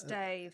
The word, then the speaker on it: Steve: It's actually Stave. It's pronounced Stave in Wolverhampton.